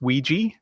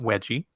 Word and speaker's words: Ouija: So that's Ouija, not Wedgie.